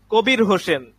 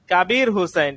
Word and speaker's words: কবির হোসেন: তাহলে যদি বলি কবির হোসেন, সেটা হচ্ছে বাংলা উচ্চারণ কাবির। কাবির হুসাইন। ঠিক আছে, মাশাআল্লাহ, এই তো বুঝে আসতেছে। কাবির হুসাইন এটা হচ্ছে আরবি শব্দ, আরবি নাম আরবি। আর কবির হোসেন যদি বলি